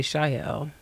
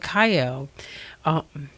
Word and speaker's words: Kyle: I always want to say Shael, but it's horrible. But Kyle, yeah, she said, yeah, I do agree.